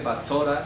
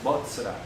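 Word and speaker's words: בָּצְרָה: Le agregó una O, donde no existe una O en hebreo allí, botzra. En hebreo no dice batzora, sino botzra.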